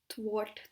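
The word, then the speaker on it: thwart: थ्वाट, थ्वाट बोल सकते हैं क्योंकि आर इसमें हो सकता है आपका साइलेंट, ठीक है।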